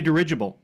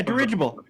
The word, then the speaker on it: dirigible: I'm thinking it would have to be a derable d y it doesn't sound right when I